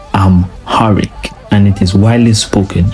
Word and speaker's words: Amharic: indigenous to them is pronounced I'm harik and it is widely